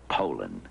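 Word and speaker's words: Poulan: for over 30 years they've been mispronouncing our name so we'd like to remind you that our name is poland and for a tough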